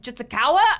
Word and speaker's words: Jitsukawa: And today we have Joe Jitsukawa.